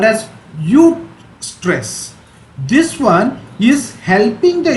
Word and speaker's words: eustress: It is spelled as EUSTRESS, eustress.